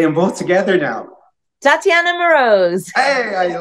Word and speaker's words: Moroz: she has a pretty name and I can't pronounce things so help me here say your first name Tatiana that's pretty second name morose say them both together now Tatiana morose hey I like that that's very good well